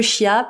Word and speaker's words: chia: Alors, je crois qu'on dit les graines de Kia, mais je vais dire les graines de chia parce que j'ai envie de le prononcer comme ça s'écrit pour que tout le monde le comprenne.